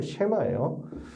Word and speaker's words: 쉐마: 이것을 보고 쉐마 합니다 쉐마 쓰는데 발음은 쉐마 그래서 들으라 히브리어로 쉐마